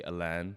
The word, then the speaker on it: Alain: It's actually Alain with an I. So it's spelled Alain because my parents got married in France, so they gave me and my sister French names. So it's meant to be Alain, like Alain Prost or whatever Have it you is.